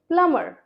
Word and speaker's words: plumber: No, it's plumber, plumber।